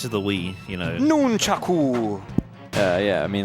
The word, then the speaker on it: nunchaku: By the way, I am going to say nunchuck and not however it is actually. Nunchuck. I don't want to say it like that. I'm so used to the Wii, you know. Nunchaku.